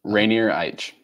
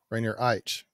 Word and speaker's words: Rainier Eich: His name is Rainier Eich. I guess, is that how you say it, Rainier? Rainier Eich. Rainier Eich.